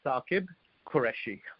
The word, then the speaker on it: Saqib Qureshi: The correct pronunciation is Saqib Qureshi.